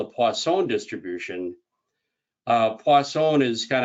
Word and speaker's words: Poisson: presentation as poisson but i've also heard people say pois poisson and and maybe some people might say poison because they just don't want to have anything to do with it but i naturally pronounce this poisson um but however you